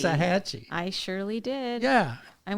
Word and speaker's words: Waxahachie: So Waxahachie. Waxahachie.